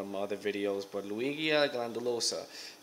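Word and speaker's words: Ludwigia glandulosa: my other videos but Luigi glandulosa is how you say it and I'm not 100% on that but I'm I'm 80% sure I'm pronouncing it right so yep that plant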